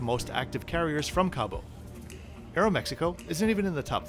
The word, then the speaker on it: Aeromexico: pretty small for Aeromexico, which of course is properly pronounced Aeromexico, but let's not split hairs.